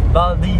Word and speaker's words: Valdez: altro posto fighissimo anzi si scrive walter ma si pronuncia boldi ho visto che mi